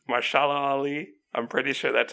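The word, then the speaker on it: Mahershala Ali: still one of my favorite villains I can't pronounce my shallow alley I'm pretty sure that's how you pronounce it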